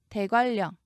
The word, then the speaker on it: 대관령: 울릉 이렇게 적으셔야 합니다 대관령 대관령이 한글 표기 그대로 옮기시면 안 됩니다 읽으시면 유마가 일어나서 니은이 리을로 변하죠 발음을 먼저 적으시고 이걸